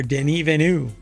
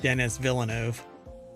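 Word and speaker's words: Denis Villeneuve: there's an entire phrase here that's missing director Den venu that is apparently you pronounce his name or he pronounces his name or you're supposed to pronounce his name not Dennis Villano denu um believes Blade Runner 2049 could have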